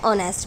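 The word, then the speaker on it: honest: एन ऑनेस्ट मैन, एच हमारा क्या है, कॉन्सोनेंट है बट साउंड ये हमारी क्या, एच साइलेंट हो जाने के बाद साउंड तो यहाँ पे हमारी ओ की आ रही है, ऑनेस्ट, तो हमें ध्यान देना साउंड पर।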